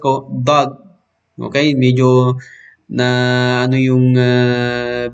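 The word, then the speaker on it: ض: Ibig sabihin, yung gilid dito, didikit mo doon sa gilid doon sa taas. Okay? Dod. Kaya doon lumalabas ang letrang dod.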